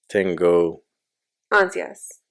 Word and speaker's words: tengo ansias: Tengo. Ansias.